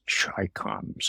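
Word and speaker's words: ChiComs: an innate fear of those Russians and those Chai coms, for those of younger age, Chai coms are Chinese communists, but they're always pronounced Chai coms.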